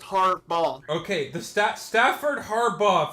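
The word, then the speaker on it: Harbaugh: I said it wrong I feel like it his name doesn't end in a V it's just har B okay the STA Stafford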